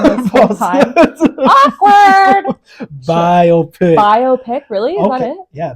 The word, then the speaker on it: biopic: Biopic. Oh fuck! I've been saying it wrong this whole time. Awkward. Biopic.